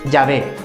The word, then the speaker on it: Yahvé: Entonces podemos concluir que la pronunciación más exacta es Yahvé.